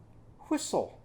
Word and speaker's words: whistle: a t in it but the t doesn't make any sound so we're just going to pretend like that t is not there and then it ends with o and then there's another silent letter so this one that t doesn't say anything that e doesn't say